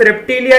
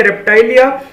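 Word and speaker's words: Reptilia: ठीक है, उसके बाद क्लास एम्फीबिया, बायोलॉजी में कोई प्रोनाउंसिएशन सही बराबर बोल नहीं सकते। क्लास रेप्टिलिया या रेप्टाइलिया, क्लास एव्स और क्लास मेमेलिया।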